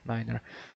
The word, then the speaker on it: niner: we have obviously nine which is ner just spell it out here Niner so just a quick course there yeah and